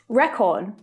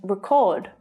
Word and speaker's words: record: community projected historical photos on the church building record and record record and record do you keep a record